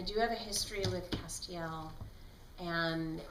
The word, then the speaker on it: Castiel: does have a history Castiel whose name I now know how to pronounce properly thanks to the people on social media who jumped to my uh correction when I announced it as Castile so I will never